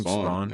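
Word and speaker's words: Spaun: Spawn.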